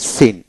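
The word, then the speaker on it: scene: একইভাবে C silent যেটা, যেমন সিন এস সি ই এন সিন, এস এতে স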